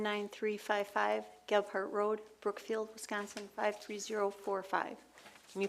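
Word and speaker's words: Gebhardt: Darlene Osgood, 1 19355 Gart Road, Brookfield, Wisconsin 53045. Can you please repeat the street and spell that for me? Yes, I can. Ghart Ge B H A R DT road.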